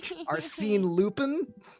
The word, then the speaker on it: Arsène Lupin: no one in the game can pronounce his name correctly. Arsène. Arsène Lupin?